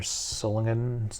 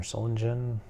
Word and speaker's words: Solingen: one's a German another Solan or solingen choose your pronunciation uh Solen Germany um looks like